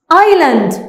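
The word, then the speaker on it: island: نشوف اللي بعد كده ايلاند جزيره خدنا بالنا ان كلمه ايلاند انا دلوقتي عملت ايه الاس سايلنت طبعا لما احط النقطه الفلسطه تحت اي حرف ده بيديني ان انا ما بنطقهاش دي جزيره غير في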